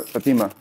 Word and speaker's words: Fatima: Fatima or Fatima? Say it the right way. I want to make sure I pronounce it right.